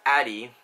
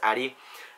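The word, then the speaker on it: Arie: with my friend airy I'm not area sorry Addie his name is spelt a rie but it's pronounced addy my friend jeslin and we're gonna be paying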